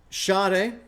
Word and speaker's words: Sade: it work sure yeah so shade is how you pronounce this artist's name shade not s so don't say that people